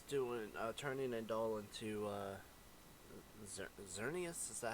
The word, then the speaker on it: Xerneas: And this person's doing turning a doll into Xerneas. Is that how you pronounce it? Yeah, Xerneas.